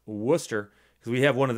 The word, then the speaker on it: Worcester: Worcester in 2016 and I know how to pronounce Worcester because we have one of them here in